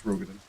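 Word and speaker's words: Roegadyn: It's Rogadin.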